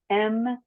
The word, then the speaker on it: Meliska: It's a nickname, so it's Meleeska. So Meliska.